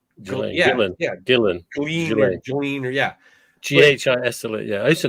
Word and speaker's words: Ghislaine: Ghislaine. Gillen.